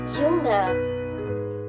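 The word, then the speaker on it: jünger: Similarly, U changes to U with umlaut, and so does the pronunciation. Jung, junger, am jüngsten. And the same thing happens with adjectives that have an O.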